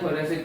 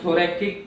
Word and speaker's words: thoracic: Okay, कौन सी cavity में heart होता है, तो वो होता है थोरेसिक कैविटी। अब थोरैकिक कैविटी बोलो या थोरेसिक कैविटी बोलो, दोनों ही वैलिड है, बट स्पेलिंग मिस्टेक नहीं करना, राइट।